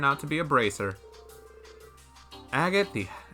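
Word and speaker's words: Agate: Agot the AGOT the heavy blade. An A-rank bracer from Liberal. Agot. The canon pronunciation.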